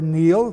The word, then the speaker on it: Niall: The Celtic race deals with Niall, N-I-U-L, or Neil, pronounced today, youngest son of Phineas, Pharsis, king of Scythia.